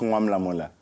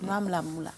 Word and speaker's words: Noir Mula Mula: It's Noir Mula Mula. Oh, Mula Mula.